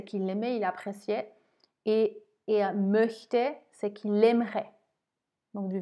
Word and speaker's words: möchte: Attention à la prononciation. Ich mochte, ça a la valeur de R hein, en phonétique, si on veut. Et là, ich möchte, ça a la valeur vraiment de CH.